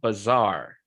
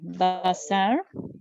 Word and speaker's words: bazaar: It's a bazaar. Oh, bazaar. Yes, bazaar. Because you have two A's, the sound is a little bit longer.